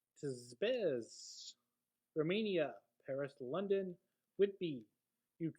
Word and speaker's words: Tempest: Remember, it is pronounced Tizbez.